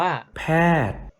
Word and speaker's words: แพทย์: เลย แพทย์ อ่าน ว่า แพทย์ saman ว่า serm ดวง อาทิตย์ อ่าน ว่า ดวง อาทิตย์ คอนเสิร์ต อ่าน ว่า คอนเสิร์ต เห็น ไม่ รู่ พอ มี ตัว การันต์ ตัว นั้น ก็ จะ ไม่ ออก เสียง เพราะ ฉะนั้น ถ้า เห็น